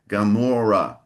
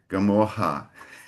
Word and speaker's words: Gomorrah: I heard a slight Portuguese pronunciation for gamora. I think you said gamoha. Okay. It's hard when they're almost identical. Just a little difference in pronunciation. It can be tough to remember. Could you repeat please? So it's goa r hard r not not the karaoka